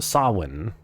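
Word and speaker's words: Samhain: Uh, approximately pronounced sawin.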